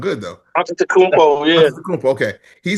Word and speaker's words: Antetokounmpo: He said that if Giannis Antetokounmpo, wait, did I say it right? That should sound good though. Antetokounmpo, yeah.